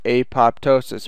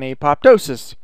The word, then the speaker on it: apoptosis: and the cell undergoes apoptosis or aptois or however you like to say that word um I've heard it say I've heard it pronounced several different ways I like saying apoptosis so that's what happens